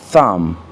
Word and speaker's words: thumb: La lettre B n'est pas prononcée dans certains mots, surtout lorsqu'elle est précédée par la lettre M, c'est-à-dire lorsqu'il y a